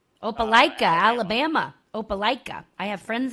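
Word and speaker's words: Opelika: head to and if I say this town's name wrong, I apologize to anyone that lives there. Opaaka. Opaikica, Alabama.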